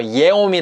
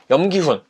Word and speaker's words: 염기훈: 라고 확실하게 발음을 했구요 명 기운 선수 같은 경우에는 yeom 이 뭐 이해 오미 라든지 뭐 이렇게 발음할 수도 있지만 염기훈 이라고 바로 바람을 했고 또 뭐 한 해군